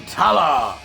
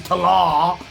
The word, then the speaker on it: Tallah: ourselves another reaction to tala which is apparently how it is pronounced i've been saying to law this whole time and i feel like